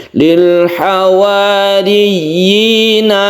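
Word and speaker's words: الحواريين: mecucu Maryama Lil hawarin ada tasydid ya kemudian ya tersebut itu panjang ini kita sebut dengan mad tamkin Ya jadi Mad tamkin itu adalah menempatkan yak ini sesuai dengan tempatnya sehingga kita harus membacanya dengan jelas ynya tersebut dan di panjangkan Lil hawariin riyi yinya itu harus jelas itu namanya Mad tamkin kita tasdidkan dahulu baru kita panjangkan y-nya Lil hawariyina Man anori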